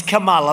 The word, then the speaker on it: Kamala: pronounce her name right it's kamala like a comma call mala and yet she pronounces